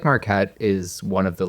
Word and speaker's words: Marquette: I didn't know Mckette. Marquette. Oh my god, I said it right so many times. Marquette.